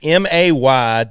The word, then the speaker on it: Meaggan: It's MAY-GUN. Meaggan. That's how we pronounce it.